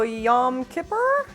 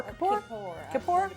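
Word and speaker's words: Yom Kippur: on on that also yam Kipper is that how you pronounce it yes it is well that's really cool you know you don't have to be Jewish to understand the symbolism of yan ker is it Kipper or korap both way well I'm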